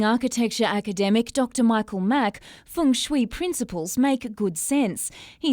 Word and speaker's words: feng shui: Direct translation from Chinese, right? So the proper pronunciation should be feng shui. But according to leading architecture academic Dr. Michael Mack, feng shui principles make good sense.